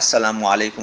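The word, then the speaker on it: السلام عليكم: সাল্লাম এভাবে শিখিয়ে দিয়েছেন, এভাবে সুন্দরভাবে বলো যে আসসালামু আলাইকুম ওয়া রাহমাতুল্লাহি ওয়া বারাকাতুহু, অথবা সালামুন আলাইকুম, এইভাবে সুন্দরভাবে উচ্চারণ করে তাকে বলতে বলবেন।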